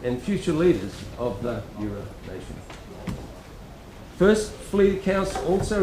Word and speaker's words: Eora: Firstly, I wish to recognise the traditional owners of the land we occupy, the land of the Gadigal people of the Eora Nation, E-O-R-A, pronounced Eora.